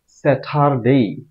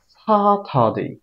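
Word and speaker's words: Saturday: করি সেটা আবার বলছি সেটার ডেই অথবা সেটার ডে এটা হবে না হ্যাঁ হবে ছাতা দেই সাথ দেই ছাতা আইপিএ সাউন্ডের এটার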